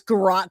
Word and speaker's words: garrotte: That's the first time I've heard him pronounce garrotte correctly with the O sound all these decades, a hundred times he's pronounced it deliberately a sound.